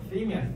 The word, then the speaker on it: theme: theme이야, theme. 원래 저거 독일어거든요. 테마라고 여러분들 알고 계실 거예요. 테마가 아니라 영어에서는 theme이라고 하셔야 돼요. theme.